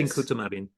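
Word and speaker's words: Tincuța Marin: That's correct my pronunciation. Tincuta Marin. Yes. Tincuta Marin.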